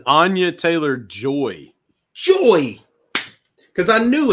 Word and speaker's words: Anya Taylor-Joy: Anya Taylor-Johnson, is it? Anya. I know it's Anya something. Because if I say Taylor Johnson, Anya Taylor-Joy.